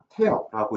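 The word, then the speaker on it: tear: 어 밑에 그죠.이 단어인데 어 티어라고 읽으면 눈물이지만 태어라고 읽어서 뭐을 찍다라는 타동사가 됩니다. 예 발음이 달라요.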